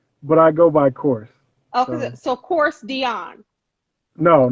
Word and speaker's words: Kors: It's Korstiaan, but I go by Kors. So so Kors Dion or no, Kors.